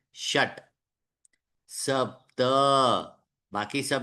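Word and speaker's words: षट्: चतवारी पंच पंच ट अब देखिए ट के नीचे वो छोटी सी रेखा डाली है जिसका मतलब क्या हुआ वो पूरा उच्चारण नहीं है श पूरा है लेकिन ट आधा है शट सप्त बाकी सब में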